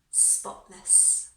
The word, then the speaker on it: spotless: Spotless. Now, very often in English pronunciation, you can hardly hear a T in the middle of the word.